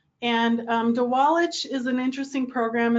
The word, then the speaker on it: Didgwalic: And it's pronounced Dewallich. And Dewallich is an interesting program.